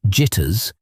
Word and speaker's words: JTRS: The joint tactical radio system, JTRS, pronounced jitters, was supposed to create